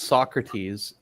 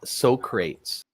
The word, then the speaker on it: Socrates: you're pronouncing us uh it's not Socrates it's Socrates hey dhen did you come